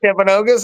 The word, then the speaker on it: Timpanogos: Timpanogos?